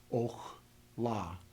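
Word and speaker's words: אָכְלָה: So in the first example, where there is no meteg, we would pronounce this as och la, short O. The syllable is closed.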